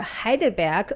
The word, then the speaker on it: Heidelberg: I wish I could rent a pretty apartment in the old town of Heidelberg, or Heidelberg, which is the German pronunciation, where I could just walk 2 minutes to the lecture hall in the mornings.